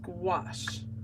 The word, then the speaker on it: gouache: how do you pronounce that word it is pronounced gouache okay we're going to try something else we're